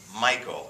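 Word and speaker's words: Michal: No, that's how you pronounce her name. It was a girl. It was a girl. But you pronounced her name Michael. It's spelled differently.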